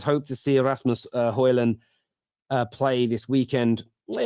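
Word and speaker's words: Højlund: it's very very good return uh Terry you pronounce uh hoylan uh correctly already except the D is signed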